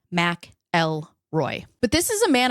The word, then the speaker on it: McElroy: talking about Ken Rex mroy yes mroy not mckelroy which I thought for the entire duration of writing this script it is in fact pronounced Mac L Roy but this is a man accused of tormenting